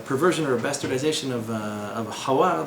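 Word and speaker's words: חוה: Well, so the Hebrew name would be Hawa. What they call her, how they pronounce it in French, is something else.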